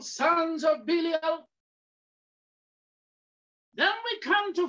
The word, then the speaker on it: Belial: We read of the word Belial, B-E-L-I-A-L. It's pronounced Belial.